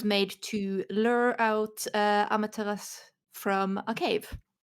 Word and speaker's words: Amaterasu: Technically, it's Amaterasu, but I'm very bad at forgetting to You're not supposed to pronounce the final U, and I keep forgetting that.